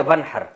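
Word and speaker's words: وانحر: तो वन असल में था व इनहर पढ़ा जाता है मिला के वनहर। तो अलिफ साइलेंट हो जाता है।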